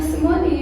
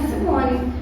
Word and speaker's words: Simony: grupo balão mág tinha simonin e meu nome na verdade não é Simone pela pronúncia correta do meu nome meu nome é Simoni aí aí p só